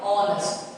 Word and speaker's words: honest: Our honest. H is silent, so we add and.